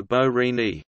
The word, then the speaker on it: Borini: Fabio Borini, Italian pronunciation Fabio Borini, born the 29th of March 1991, is an